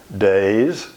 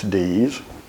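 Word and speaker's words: Deas: Pringle, Days, and again, that's our pronunciation of D-E-A-S. Everywhere else, it's D's.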